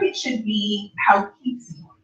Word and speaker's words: Poughkeepsie: And it's actually pronounced Poughkeepsie, is the proper way to pronounce it.